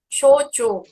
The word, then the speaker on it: shochu: Como que pronuncia? Shochu, Shochu.